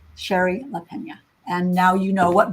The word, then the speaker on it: Shari Lapena: say your name properly you say it Sherry Sherry Leena Sher laena and now you know what book to ask